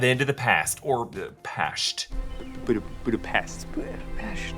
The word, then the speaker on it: Budapest: Budapest. Yes, Natasha is using the Hungarian pronunciation, calling back her exchange with Hawkeye in Avengers.